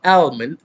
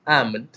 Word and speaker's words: almond: yeah there you go it is not almond it is almond silent elf okay salmon and almond